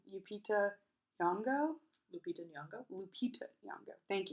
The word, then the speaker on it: Lupita Nyong'o: With I say her name wrong. Lupita Nyong'o.